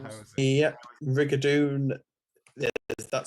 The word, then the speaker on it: rigadoon: But they're all pronounced Rigadoon like that, even regardless of the spelling.